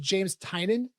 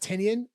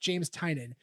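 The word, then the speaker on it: James Tynion: eye on that date also his name is pronounced james tynan not tenian i've been calling him tinian but it's pronounced pronounced james tynan so james if you're listening i'm sorry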